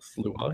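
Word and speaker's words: Sluagh: different stripes, the Slua, is that how you pronounce that one? Slua, yes.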